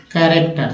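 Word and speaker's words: character: तो यहाँ तो चा उच्चारण हो रहा है, लेकिन अगर लिखते हैं कैरेक्टर, तो देखिए CH यहाँ पर क के रूप में उच्चारण हुआ, कैरेक्टर है ना, कैरेक्टर।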